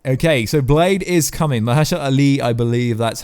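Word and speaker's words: Mahershala Ali: was announced at San Diego comic-con it was Maher surely did I say it right okay so blade is coming maja shot Ally I believe that's how you say it the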